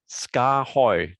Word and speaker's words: Skaarhoj: that gets asked is how do you say the company name and um this this might help you ska hoy skahoy so there you go